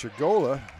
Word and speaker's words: Chigola: It's Chigola, and her pass is deflected out of bounds.